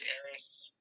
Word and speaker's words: Arys: name eris did john uh first name is eris uh middle name is so i use